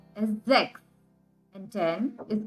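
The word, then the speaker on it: sechs: one of the exceptions six is called as sex and 10 is called as then but in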